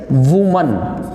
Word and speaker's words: woman: Some people read it as ' vom that'. That is not woman That is woman That is woman And